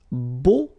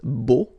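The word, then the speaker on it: beaux: plural version and it's Bo okay so you put this x at the end but then you don't pronounce it so it's Bo all right B b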